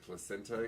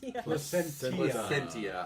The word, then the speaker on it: Placentia: Placenta, California? Placentia. I'm sorry. That extra syllable is all important.